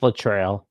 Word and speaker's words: Littrell: Like, he's doing the best for what he can, but they did fire their offensive coordinator, Seth Littrell. Is that how you say it, Jackson? Yep, Seth Littrell.